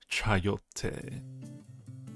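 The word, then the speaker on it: chayote: not heard of called chiote. Gross. It's gross. Don't ever have that. Chiote. Chaote. I don't know if I can type it in there. It's spelled C H A Y O T E.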